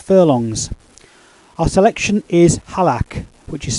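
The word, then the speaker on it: Halaak: Our selection is Halak, which is spelled H-A-L-A-A-K.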